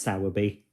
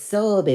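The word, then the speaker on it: Sowerby: not live I say it's not pronounced sour bee it's sorby bridge but no I don't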